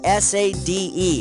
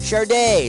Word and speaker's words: Sade: Her name is spelled S-A-D-E. How the heck do you pronounce that? Sade, Sadie, Sad, or Sod?